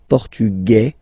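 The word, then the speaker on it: portugais: the feminine form okay masculine portugu you don't pronounce the s feminine formug you pronounce this z sound Okay.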